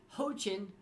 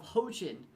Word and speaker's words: Hoaqin: to just express that when i pronounce the name ho chin i feel like i'm saying it correctly however that is what translators told me so that's what i'm